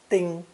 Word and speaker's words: 丁: It's also a split sound character, usually pronounced first tone, ding, or more rarely, 征.